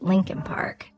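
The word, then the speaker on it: Leakin Park: a word here about Lincoln Park it's actually spelled leak Park l e a k i n but almost everyone in Baltimore pronounces it Lincoln Park it's huge over a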